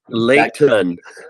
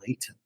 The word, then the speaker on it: Layton: How I pronounce my T's. Layton. That came from Scotland. I heard it. And everybody picks up on it in Utah. Like, Really? you said Layton.